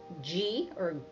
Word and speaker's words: ghee: And there's also ghee, that's how it's pronounced, that comes from the butter itself.